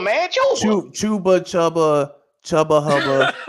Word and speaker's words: Chuba: for 92 and then dudes come on man pronounce the man name right chuba man chuba CH chuba chubba chubba hubba he had 92